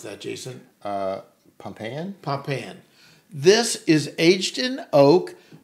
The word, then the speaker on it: Pompeian: So number 7, how do you pronounce that, Jason? Pompeian? Pompeian.